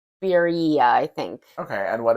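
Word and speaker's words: birria: pronounce this I I I looked it up and I think it's beia it looks like b i r r i a the tacos they're like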